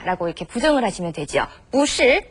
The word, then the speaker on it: 不是: 不是 발음 뿌는 원래 사성이지만 是가 사성이기 때문에 앞에 뿌는 이성으로 발음하죠.